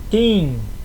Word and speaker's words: tim: Vocês ouviram esse T ele não tem som de ti não é TIM não é TIM não tem som de tch né Igual no português em tchau não o som é de T mesmo é T duro Tim certo mesmo antes de i ou antes de e é sempre assim vamos pra próxima consoante